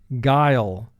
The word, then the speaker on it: guile: Guile. 3 sounds. G, I, L.